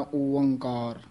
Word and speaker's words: ओंकार: पहला उच्चारण करना है एक, फिर बोलना है ओंकार।